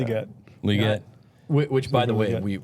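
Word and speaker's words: Legette: They have Xavier Leggett, or how do you pronounce his name? Leggett.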